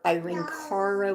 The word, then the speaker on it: Irene Cara: So anyway, what he sang and did a dang good job on was Flashdance by Irene Cara. I was like, or Irene Cara, whichever way you wish to pronounce it.